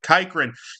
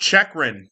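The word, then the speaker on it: Chychrun: all season long I've been calling him Jacob kikran his last name is pronounced chechan I do that probably about once a year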